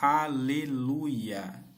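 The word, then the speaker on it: הללויה: Esta palavra é transliterada como halaluia, do hebraico antigo. Pode ser lida como haleluia, em hebraico moderno, com o acordo dos maçoretas. Halaluia significa louvai ou adorai a Iá.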